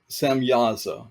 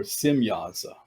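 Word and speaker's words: Semjaza: So this watcher by the name of Samyaza or Simyaza, spelled with a J, but the J is pronounced as a Y. Simyaza decided that he would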